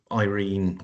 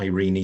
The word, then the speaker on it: Irene: Um so I did a story from the point of view of Irene or Irene Adler depending on how you want to to pronounce her name from the Sherlock Holmes books.